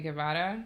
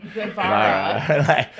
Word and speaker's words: Guevara: If I say Guevara. Say it like a gringo says, Sammy Guevara.